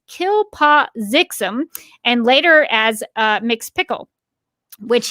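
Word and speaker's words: Kltpzyxm: Superman pronounces the backwards pronunciation as Kilpazixum and later as Mxyzptlk, which he doesn't intend to do until he's having fun at the carnival.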